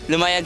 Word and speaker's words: Lumayag: Lumayag Sandbar.